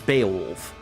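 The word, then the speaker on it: Beoulve: No, it's uh it's Beaolf. That's the pronunciation.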